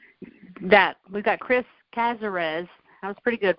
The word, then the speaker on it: Casarez: Chris and I'm not gonna even try to pronounce your last name Chris how do you say it cazarez that we've got Chris cazarez that was pretty good right he is joining